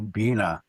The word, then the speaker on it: Bine: It had some relatives and um one of the communities that we call Beina which is a misprononunciation because that's an Ojiua word that we pronounce an A which means that bird that partridge but